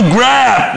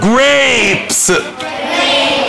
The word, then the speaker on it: grapes: ناس كتير بيغلطوا يقولوا grab. no. grapes. grapes.